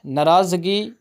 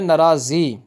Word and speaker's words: ناراضی: بلکہ منطق ہوتی ہے۔ ناراضگی نہیں ہوتی لفظ، یہ لفظ درست ہے نہیں ہے کہتے ہیں ناراضگی، بلکہ لفظ ہوتا ہے ناراضی۔ اسی طرح کہتے ہیں